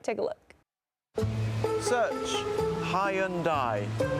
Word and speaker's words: Hyundai: anyway it turns out a lot of people have been saying it wrong and the company launched an ad telling people to get it right take a look search Hyundai you have arrived